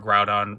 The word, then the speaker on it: Groudon: And then, you know, Kyogre, Groudon, Rayquaza, Jirachi, and Celebi. Yes, that's how you pronounce all of them.